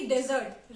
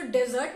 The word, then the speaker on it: dessert: इसलिए जब आप किसी होटल में जाएं तो डेजर्ट मत खाइए, डिजर्ट खाइए। इन दोनों के उच्चारण में बहुत ही स्लाइट डिफरेंस है, लेकिन फिर भी अगर आप सही उच्चारण करेंगे तो सुनने में ज्यादा अच्छा लगेगा।